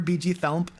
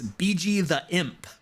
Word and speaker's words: BG the Imp: are you still here bg thump um which by the way is bg the imp i've been saying it wrong the whole time i've always called you bg thump and and they're like